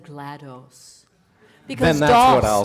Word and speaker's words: GLaDOS: And then I was like, what GLaDYS? And then I saw GLaDOS, and I've always said GLaDOS. Because then that's what I'll say. DOS, the operating system, DOS, okay.